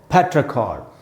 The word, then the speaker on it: petrichor: इसका प्रोनाउंसिएशन, सबसे पहले ये एक नाउन है और इसका प्रोनाउंसिएशन है दोस्तों पेट्राकॉर। ये प्रोनाउंसिएशन समझते हैं कैसे? फै में जो ए है उसको अंडरलाइन किया मैंने, वहीं पर स्ट्रेस है, यानी पै का जो साउंड है उस पर ज़्यादा रुकेंगे।